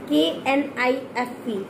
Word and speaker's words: knife: तो हम कभी भी We will never pronounce K sound. We will always leave the K sound. We will have to necessary K sound as a silent mode. Okay? Like K-N-I-F-E, knife.